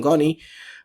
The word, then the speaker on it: Goni: Yan po ang pronunciation ng Connie.